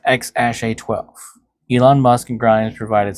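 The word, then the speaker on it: X Æ A-12: The AE symbol, pronounced ash, it is an elven spelling of AI for love and or artificial intelligence.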